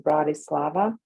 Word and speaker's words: Bratislava: uh it's the capital of slovakia it's uh pronounced bratislava b-r-a-t-i-s-l-a-d-a and it's about an hour away from